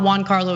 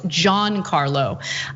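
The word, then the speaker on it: Giancarlo: uh john carlo's name it's not juan carlo it's john carlow and he also told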